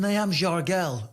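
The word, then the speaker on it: Nyamjargal: I believe it's pronounced Niam Jargel.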